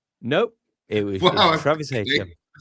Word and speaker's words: Etienne: and a player that turns out we've been pronouncing wrong all of these years. How should I be saying it? Etienne?